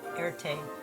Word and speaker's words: Erte: and Rec christened himself Erte from the French pronunciation of his initials R and T he would go on